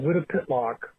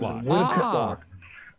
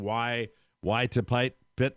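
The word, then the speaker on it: Wytopitlock: our camp up in north and go through Wittapitlock. And that's how that name is pronounced. Wittapitlock.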